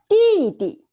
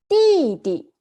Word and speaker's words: 弟弟: So the little brother in Chinese is 弟弟. 弟弟.